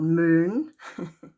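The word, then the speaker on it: Møn: the little island of, it's called Moon. And it's spelled M and like the O with a slash in it and an N. And I think the English have an island that is also called that, but they spell it Moen.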